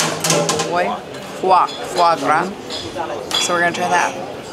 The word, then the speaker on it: foie gras: Who ordered foie gras?